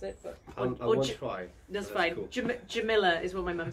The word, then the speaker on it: Jumilla: So it's from Jumilla, is the way that you pronounce it. That's fine. Cool. Jumilla is what my mum says.